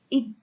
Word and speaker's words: egg: So a word like egg, this is the egg, but in Old English, egg, this is not pronounced as egg, but as a, because the ga, okay, has been palatalized in Old English, yet it is not palatalized in Scandinavian. So ig is of Scandinavian origin.